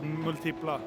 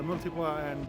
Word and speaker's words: Multipla: next to his Fiat multia how do you pronounce it uh I say like multipla yeah what happened here cuz you have a